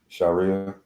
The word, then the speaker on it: Sharia: Sharia.